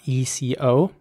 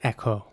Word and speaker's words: eco: is that once again the e at the beginning is pronounced like an e and not like an A or like an A so in American English it would indeed be more like Echo um here is an